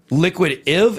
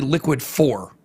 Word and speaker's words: Liquid IV: uh the this wrong they're saying I'm saying liquid if and I think what they're saying is it's actually liquid four it's actually liquid four or liquid IV well that's four no